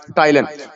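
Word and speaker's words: ptyalin: उसके साथ फूड को मिक्स करते हैं मेस्टिकेशन, चबाने के दौरान, which contains an enzyme called टाइलन। P silent है, तो इसके अंदर एक एंजाइम होगा जिसको हम क्या बोलते हैं, टाइलन।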